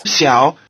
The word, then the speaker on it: 小: Notice that the low tone of "xiǎo" changes to rising tone before the low tone of the following syllable.